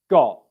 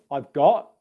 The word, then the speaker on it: got: The T at the end of words, got. It's a very soft T. You can either have no airflow come out like this, I've got, or some airflow, I've got.